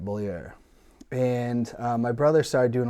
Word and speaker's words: Beaulieu: And we didn't really understand like our tie, it's always been, we've always pronounced our name correctly, right? Beaulieu.